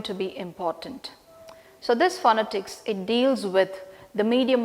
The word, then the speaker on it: phonetics: So, it begins with Phonetics, and then the very first sound, PH, we refer that as, and we pronounce that as F. It is not P, it is F.